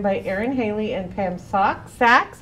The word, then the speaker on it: Sachs: And we're happy to be joined by Erin Haley and Pam Sachs. I want to say it right, Sachs, like saxophone, to tell us all about it.